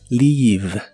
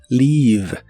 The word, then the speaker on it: leave: de inglés es Leave se pronuncia con la i larga o doble y termina con la v o b chica que en inglés es la biodental y vibrante Leave Leave no confundas a esta